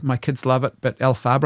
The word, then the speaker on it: Elphaba: My kids love it, but Elphaba, I think is how you say that.